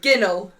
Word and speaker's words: ginnel: Ginnel.